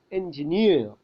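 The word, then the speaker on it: engineer: എന്ത് ചെയ്യുന്നു സ്ട്രെസ്സ് കൊടുക്കുന്നു ഉദാഹരണം നോക്കൂ എൻജിനീയർ എൻജിനീയർ എൻജിനീയർ നീ എന്നതിലാണ് സ്ട്രെസ്സ് എൻജിനീയർ ഇനി നോക്കൂ അവസാനം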